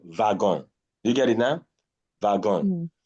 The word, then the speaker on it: wagon: Then this is wagon. Wagon. The next word is Wagon. wagon. Yes. Why is it wagon? It is borrowed from German. And in German language, W is pronounced as V.